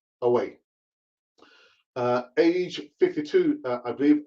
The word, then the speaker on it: Hugo: diego maradona's a younger brother google it's not hugo i mean the spanish you don't pronounce the hate is silent so it's ugly uh age 52 i believe of a heart